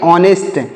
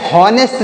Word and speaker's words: honest: अगला वर्ड है HONEST, इसे क्या पढ़ेंगे, ऑनेस्ट। क्या पढ़ेंगे प्यारे मित्रों, इसे पढ़ेंगे ऑनेस्ट। HONEST, यहाँ पर H साइलेंट है, इसे हॉनेस्ट नहीं पढ़ा जाएगा, ऑनेस्ट पढ़ा जाएगा।